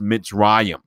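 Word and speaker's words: מצרים: the letter mem as well and it is pronounced mitzrayim and this is important because they give us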